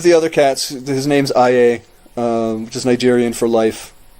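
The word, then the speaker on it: Aye: Oh, A-Y-E, but it's pronounced I-A. I-A.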